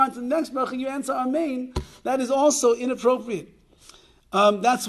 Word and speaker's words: Amein: And that is that if you mispronounce one of the vowels of the word Amein, so I don't know, you'll say Amen or something like that, it will not be the way that Amein is supposed to be said.